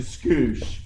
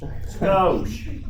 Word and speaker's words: skosh: Hey, from a guy that admitted just a scoosh. Skosh. Yeah, scoosh. That little Bastard, he mispronounced it.